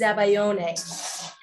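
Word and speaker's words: zabaglione: so um super cool in french it's called zabaeon but in italian it's zabayone now i was married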